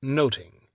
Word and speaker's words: nothing: Shakespeare pund his title Much to do About Nothing pronounced noting to carry along the